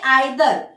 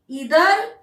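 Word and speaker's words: either: देखिए यहाँ पे, अभी यहाँ पे देखिए आइदर, मैंने प्रोनाउंसिएशन इसका किया आइदर, और मैं इसका प्रोनाउंसिएशन करूंगी नाइदर। पर कभी कभी नहीं, इसका दूसरा भी एक प्रोनाउंसिएशन है, इधर नीदर।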